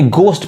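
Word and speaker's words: ghost: बोलते हैं Wednesday next देखिए यहां एच साइलेंट है यानी गोस्ट पढ़ाए और यहां पे वाल्क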